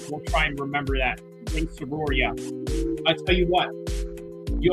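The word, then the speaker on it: Rei Tsuruya: up right next Ray serua that's how you say his name Ray okay so we'll try and remember that Soria I tell you what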